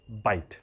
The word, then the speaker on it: bight: एक है वो बाइट, काटना, वो क्या स्पेलिंग है? हाँ, BI है। ओके, सो BIGHT, ठीक है ना? बाइट।